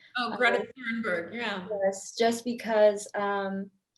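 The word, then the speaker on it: Thunberg: say Greta um I don't know how to pronounce her last name correctly Thor thornberg oh gret turnberg yeah yes just because um she is making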